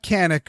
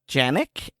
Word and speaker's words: Canik: also make a 1911 clone and not not canic or Janik uh it it is uh Yannick it's spelled yes but okay and I have I